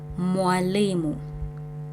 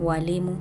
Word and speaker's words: mwalimu: Mwalimu, mwalimu, teacher. Mwalimu. So it's not walimu, no, mwalimu.